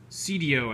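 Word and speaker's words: Seidio: this is by uh cdo i think is how it's pronounced s-e-i-d-i-o so i think that's the correct pronunciation and it's awesome i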